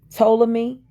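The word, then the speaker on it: Ptolemy: watch it but it's the p is silent it's spelled p t o l e m y to me m y p yeah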